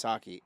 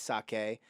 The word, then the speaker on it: sake: It's not pronounced sake, it's sake.